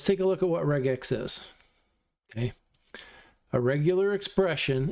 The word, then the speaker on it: regex: Regex is short for regular, and it's a hard G sound, so the proper pronunciation is probably regex.